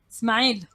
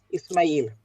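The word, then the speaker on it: إسماعيل: How do you pronounce Ishmael in Arabic, Ayat? Ismail. Ismail. Ismail.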